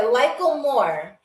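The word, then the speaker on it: Likkle more: Yeah, Lickle more. So it's spelled Likkle space MORE.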